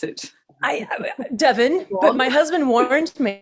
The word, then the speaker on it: Devon: She lives in Devon, England, with her partner and 2 children. Did I pronounce Devon right? You did. Yeah. How did you think you should pronounce it? Devon, but my husband warned me.